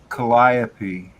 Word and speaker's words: calliope: In the song Blinded by the Light, written in 1972, Bruce Springsteen used the four-syllable calliope pronunciation commonly used in the United States when referring to a fairground organ.